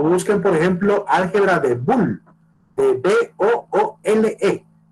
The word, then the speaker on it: Boole: por ejemplo, álgebra de Boole, de B-O-O-L-E, se escribe como boom, como que fuera un sonido, boom, B-O-L-E-L-E, como la O-W inglesa, pues, para que diga Boole, que es un famoso matemático y tiene una serie de reglas.